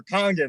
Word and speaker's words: Kangen: working simultaneously the word changing or Kangen that's a that's a proper way to pronounce it it's Japanese for return